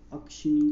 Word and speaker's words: अक्षिनी: का प्राचीन नाम है अश्किनी, अश्किनी या फिर अक्षिनी, क्या है ये, अक्षिनी, अक्षिनी इसका ओरिजिनल प्रोनाउंसिएशन होगा।